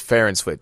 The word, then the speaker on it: Farr and Swit: I told you the real pronunciation is Farr and Swit. So you'll be saying it wrong like a fancy watch company.